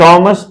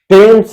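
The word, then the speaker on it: Thames: लोग कंफ्यूजन में इसे थेम्स और इसे थॉमस कहते हैं, वो गलत उच्चारण करते हैं। इसका करेक्ट प्रोनाउंसिएशन टेम्स है, टेम्स, एंड दिस वन इज थॉमस।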